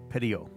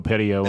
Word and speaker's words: Petiot: Because I listened to some guys talk about on it on YouTube, and they dropped the silent T at the end. So Marcel Petiot. I'm going to go Petiot on that.